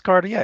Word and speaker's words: Cartier: So the R is silent, and I used to think forever that it was French because that's usually what you hear that from.